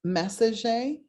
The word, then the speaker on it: Messager: It's Messager, and it's spelled like messenger without the N.